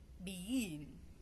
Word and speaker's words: begin: two G right and I say begin begin so I put the straight at the second syllable so the straight I